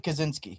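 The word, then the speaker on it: Kosinski: Joe Joe what's his last how do you pronounce his last name? Joseph Kazinski. Kazinski.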